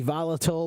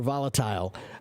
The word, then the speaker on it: volatile: okay um and again this one can be volatile or volatile I've heard both I think they're both fine it's like the word